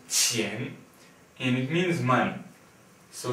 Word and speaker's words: 钱: This character here is pronounced 钱, and it means money.